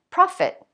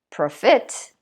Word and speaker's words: profit: What do you notice about the word stress in these words? On the first syllable again, profit. I don't say profit.